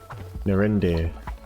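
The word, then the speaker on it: Narinder: Narindir. That's how you pronounce the name, I see.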